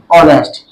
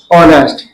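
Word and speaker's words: honest: तो यहाँ पे जो है एच क्या है, साइलेंट है. ठीक है, एच जो है साइलेंट है यहाँ पे. तो इसी प्रकार आंसर हमारा क्या हो गया, ऑनेस्ट.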